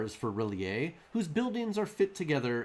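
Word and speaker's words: R'lyeh: l y e h most people pronounce it relie but uh in the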